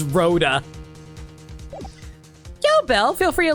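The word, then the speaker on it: Rhoda: Oh my god, I've been calling her Rhonda. It's Roa.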